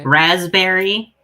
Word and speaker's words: raspberry: Raspberry, the P is silent.